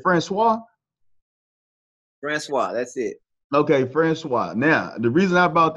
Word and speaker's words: Franqua: times is it Francois Francois that's it okay Francois now the reason I brought that up is